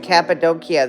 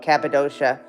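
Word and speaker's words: Cappadocia: Yeah, I never saw any horses at Capidokia, though. Capidoshia again. I think the Turks pronounce it Capidokia.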